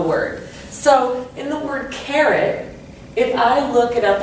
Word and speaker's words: carrot: So in the word carrot, I would say it with emphasis on the carrot. Okay, care gets more emphasis than it.